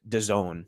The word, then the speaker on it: DAZN: Apparently, it's pronounced DAZN.